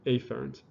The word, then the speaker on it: afferent: right so an afferent emphasizing the a here all right this is